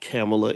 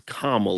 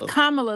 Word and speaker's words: Kamala: Harris and Donald Trump it's not camela it is kamla it's kamla like Pamela or like Kama like Kama versus period